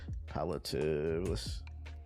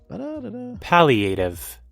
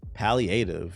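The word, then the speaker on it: palliative: I get it in the context, but I don't know how to pronounce that Palotative definition. Paliative. Paliative.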